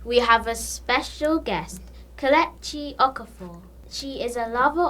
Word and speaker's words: Kelechi: My name is pronounced Kelechi, so there's a E, Kelechi, and it means thank God.